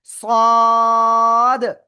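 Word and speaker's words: صاد: লাগিয়ে মোটা আওয়াজে আমরা চার আলিফটা নিয়ে উচ্চারণ করব। সদ সদ সবাই একসাথে জোরে জোরে বলেন সদ ওকে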